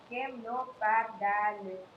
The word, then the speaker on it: camelopardalis: Sir came low past the list.